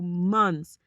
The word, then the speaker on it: months: It will save you months and months and months. Do you pronounce the TH in there? Months of time.